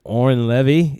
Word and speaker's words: Oren Levy: Brooklyn the exact Lin yes his name is Oren levy is that correct I pronounce the last name correct yeah tomatoes yes